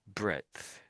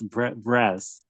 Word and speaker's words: breadth: The only interesting word I noticed there or tricky word maybe was breadth.